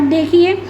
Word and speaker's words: the: कहीं कहीं हम दी रीड करते हैं, कहीं कहीं हम द रीड करते हैं। क्यों रीड करते हैं, दी का यूज़ कहाँ पे होता है बेटा, वोवल साउंड से स्टार्ट हो, जहाँ पे वोवल साउंड से स्टार्ट हो रहा हो वर्ड, वहाँ पे हम दी प्रोनाउंस करेंगे, ना कि द।